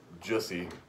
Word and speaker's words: Jussie: But it looks more like Jussie, which rhymes with pussy, which Jussie is a pussy.